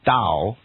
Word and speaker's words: Tao: tears in Tommy a-o-i-s-t so it's written Taoist and pronounced with a d Taoist that was confused